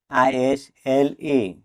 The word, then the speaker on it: isle: ISLE isle, আইল, এখানেও S letter দিয়ে সাইলেন্ট থাকবে।